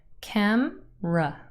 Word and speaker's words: camera: like I said before camera has two syllables camra and the first syllable is stressed you can see this